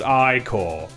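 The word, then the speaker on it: Ichor: It's pronounced Icor.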